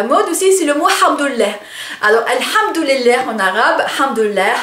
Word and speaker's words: hamdoulilah: assez drôle parce que on le prononce avec une lettre, avec un son qui n'est pas qui n'existe pas en français, donc le ha, hein, ha, ça vient de la gorge, et ça fait quand